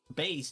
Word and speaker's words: Bass: you're not wrong because it's pronounced both ways but base is primarily because if you look